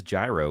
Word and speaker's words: gyro: It's not pronounced Euro. It is Gyro Controls on Android.